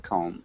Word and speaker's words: comb: okay and Daniel remember com we don't pronounce the b so it just sounds like com any other questions about